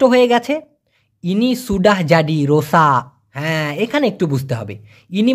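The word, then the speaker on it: rosak: থাকে একটা এরকম যেমন রোসাক্কা এভাবে না বলে কটা খুব ছোট করে উচ্চারণ করে এজন্য রোসা শোনা যায়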